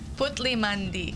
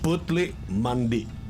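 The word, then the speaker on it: Putli Mandi: it's it's a it's okay let's let me pronounce all of these yes pleas Chef put Mandy putle Mandy putle Mandy ah okay there X is the authentic guy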